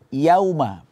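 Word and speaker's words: يَوْمَ: Yauma di sini seringnya kita mendengarkan kesalahan di sini, yaitu kita baca pengucapannya seperti o, yo, karena di depannya ada waw sukun. Yo, enggak. Ya itu harus kita buka mulutnya, infitah, senyum. Ya. Setelah itu baru kita datangkan huruf waw sukun.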